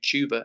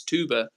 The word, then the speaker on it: Tuba: I called you Tuba and you were like, no, it's Tuba.